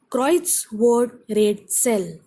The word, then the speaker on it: Kreuzworträtsel: Kreuzworträtsel. Stress is on Kreuz.